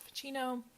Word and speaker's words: Ficino: And he quotes another philosopher, I believe you pronounce it Ficino, in saying that love is the most serious disease of all.